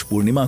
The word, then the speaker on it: Paris: पेरिस नहीं, पेरी। तुम्हारा pronunciation भी ना तुम्हारे इरादे की तक।